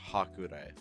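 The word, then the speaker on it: Hakurei: It's that's pronounced Hakurai.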